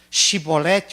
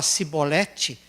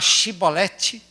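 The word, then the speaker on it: Shibboleth: Shibolete ou Sibolete? Porque quando o efraidita chegava lá e falava Sibolete, qual é a lição que nós aprendemos?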